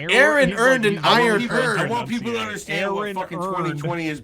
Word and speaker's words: Aaron: he's like no it's Aaron earnest I know the correct Baltimore the correct Baltimore pronunciation that is earn earned and earn earn